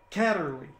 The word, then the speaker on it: Kaderli: in studio today and her name is catterly got it that's right very good i pronounced it correctly so so uh you